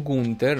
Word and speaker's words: Gunther: Lo chiamo Gunther, non so se è la pronuncia inglese esatta, ma assomiglia di più a una pronuncia tedesca.